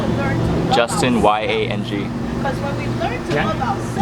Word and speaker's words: Yang: Justin Y-A-N-G. Yeah? Yang, yeah, like yin yang.